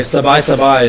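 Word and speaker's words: สบาย: They have like sabai is how you say relax in Thai.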